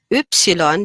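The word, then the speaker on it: Ypsilon: a v and an e together v x oopsilon this one is a little bit more difficult to pronounce oopsilon and set okay so i'll say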